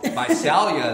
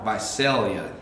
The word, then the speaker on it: Visalia: It's not Visalia, it's Visalia. It's not Sal, it's Sail. Sail. Visalia.